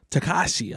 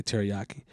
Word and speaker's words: Tekashi: So, Tekashi, I believe it's pronounced. I used to say it wrong. I used to say teriyaki.